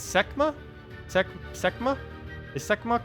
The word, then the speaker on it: Sekhma: video tomorrow then it's semma SE semma is semma correct I keep saying skma everyone keeps saying it's only two syllables so semma is that